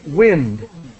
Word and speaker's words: wind: And just the pronunciation is wind. Wind. Wind. Like to win a game. So wind. That's the pronunciation. Okay. Yeah. Now that word can be pronounced the other way, but it's a different verb. Yeah. Or I'm sorry, it's a verb. Yeah. Yes, Right. yeah. When you wind your clock.